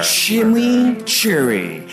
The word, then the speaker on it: Chimichurri: Chimichurri. That's how you pronounce it.